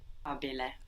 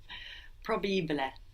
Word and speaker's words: probabile: Probabile. Think of how it's written, how it's spelled. Probabile. P-R-O, no, B-A, Probabile. It's almost like there's an extra B.